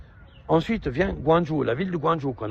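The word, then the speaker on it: Guangzhou: mais en fait une province la ville c'est guanjou mais on y vient après donc guandonch guandon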